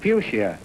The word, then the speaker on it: fuchsia: Spell the word fuchsia, meaning a plant with red, pink, white, or purple drooping four-petal flowers.